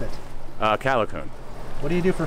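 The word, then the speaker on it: Callicoon: How do you pronounce it? Calicoon.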